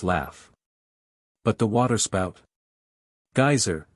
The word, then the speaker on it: geyser: high above the waters the geyser a word the icelanders pronounce geyser and which signifies Fury Rose majestically from its